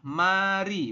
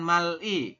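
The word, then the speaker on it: 말이: dibacanya adalah R jadi ee pelafalannya adalah Mari bukan Mali ya bacanya adalah Mari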